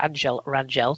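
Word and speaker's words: Ángel Rangel: winner from of all people angle r or Angel Rangel to give it proper pronunciation anyone that called that on the betting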